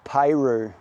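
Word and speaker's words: Peyroux: Got a guy in here called Albert Peru. surname is spelled P E Y R O U X. I reckon the X is silent.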